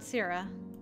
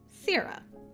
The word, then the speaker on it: Sira: And finally, contact information and his exact location on Sierra. Hey, I did get it right. Thank you for putting the pronunciation in there. Pronounced Sira. Sira is a large moon that orbits Arcalis.